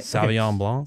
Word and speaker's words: Sauvignon Blanc: Sauvignon Blanc.